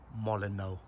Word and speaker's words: Molyneux: You know what, I've always thought this was pronounced Molyneux, but someone said to me, no, it's not. That's not how you pronounce it. It's called Molyneux with a silent H.